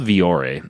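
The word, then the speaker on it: Vuori: and tie guy so it's called V or E but it's spelled different like what you'd expect its vu o RI vu o RI so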